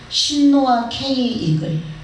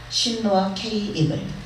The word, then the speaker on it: 신노아 K 이글: 그러나 그곳에 그 술 이름은 신노아 K 이글이라고 발음을 합니다. 그러니까 천국의 술은 신노아 K 이글, 신노아 K 이글.